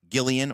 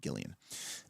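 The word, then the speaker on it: Gilean: the neutral gods are led by Gillian or sometimes called Galen we always pronounced it Gillian or I always pronounced it Gillian and from this the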